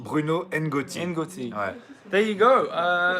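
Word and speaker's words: Bruno N'Gotty: How do you pronounce it again? Bruno Ngotti. Bruno Ngotti.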